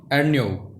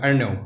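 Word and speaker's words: Ernaux: अब की बार जो अवार्ड मिला है वो मिला है एक फ्रेंच नॉवल राइटर हैं जिनका नाम है एनी अर्न्यो। ठीक है, एक्स साइलेंट रहेगा, अर्न्यो।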